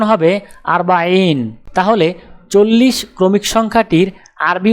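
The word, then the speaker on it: أربعين: আরবি ক্রমিক সংখ্যা 40 দেখতে এরকম, উচ্চারণ হবে আরবাইন।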